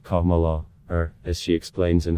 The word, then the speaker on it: Kamala: just disrespectful it's racist harrah's first name is pronounced kamala her as she explains in her biography a